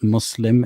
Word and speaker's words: Muslim: Again, my brother in humanity, try to pronounce it correctly, since you're a convert and you're addressing Muslims. It's Muslim, it's not Muslim.